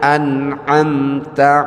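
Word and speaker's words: أنعمت: antara hamzah dengan ain. Alhamdulillahi rabbil alamin atau sirathalladzina an'amta alaihim. Itu harus benar. Alif dibaca ain, ain dibaca hamzah. Itu bisa salah maknanya.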